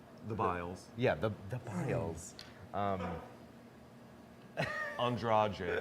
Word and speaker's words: Andrade: Andrade, I believe is how she pronounces her last Andrade, name.